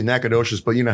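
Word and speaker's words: Nacogdoches: It's It's actually Nacadocious, but you know how people from Louisiana always change?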